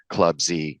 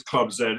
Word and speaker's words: Club Z: first of all that it is Club Zed it's not club Z Club Z is an American mispronunciation of a very old English letter um noted I I